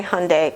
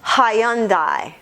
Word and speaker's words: Hyundai: States is Hyundai and I think you should say Hyundai cuz most people do but just so you know in Europe they say Hyandai or something they make it more syllables they make it three syllables and we make it two I don't know what